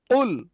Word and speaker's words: قل: একদম জবানের শেষ, অর্থাৎ জিভের গোড়া দিয়ে উপরে তালুর সঙ্গে ঠেকিয়ে কফ উচ্চারণ হয়।